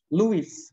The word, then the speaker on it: Lewis: yang kedua yaitu mengenai simbol Lewis bacanya Louis itu ya guys simbol nama orang